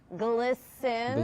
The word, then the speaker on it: glisten: Don't pronounce the T in these words.